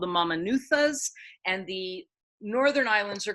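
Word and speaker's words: Mamanucas: So in Fiji, the letter C is pronounced as a TH. So when you say Mamanuthas, you say Mamanuthas.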